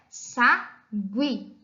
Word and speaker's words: sagui: é para ficar be a pronúncia correta é Sagui então e lembrando nos grupos Gui em muitas palavras o não é pronunciado mas em outras a vogal u é pronunciada como na palavra pinguim a palavra sagui a